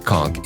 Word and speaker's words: conch: Kch pronounced conchk is a large sea snail that has been a staple in Caribbean and Bahamian cuisine for centuries.